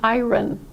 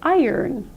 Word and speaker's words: iron: my international graduate students come to me saying ayran ayran but we don't pronounce it that way instead we pronounced it as you would pronounce those two words iron iron iron iron five dollars more a day